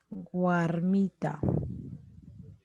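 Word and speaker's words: warmi: Por ejemplo, guarmi, guarmita. Ya yo digo guarmi. Mira, guarmi. Grave. Penúltima sílaba. Guarmi no existe.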